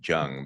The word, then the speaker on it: Zheng: It's almost like J U N G Jung, but Jung.